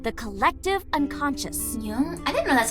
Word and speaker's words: Jung: Jung? I didn't know that's how you pronounce that.